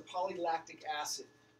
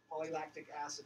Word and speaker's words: polylactic acid: PLA is a polylactic acid. That's how you pronounce it. Polylactic acid, or PLA.